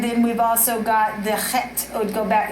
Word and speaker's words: Chet: Actually, the strength card in the Hebraic living language is the chet. It's the letter. It's spelled HHET. Chet, and you have to use the back of your throat for Hebrew.